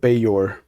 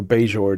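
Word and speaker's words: Baejor: okay his name is Clifford bayor or bayjore depending on how you want to pronounce it uh it's b-a-e-j-o-r is his last name does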